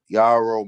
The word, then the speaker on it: Yarrow: go this guy here guyaro this guy here yaro mama of georgetown so he also was able